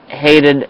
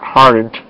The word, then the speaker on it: Hayden: And by the way, that guy said the name wrong. It's Hayden Christensen. Not hardened.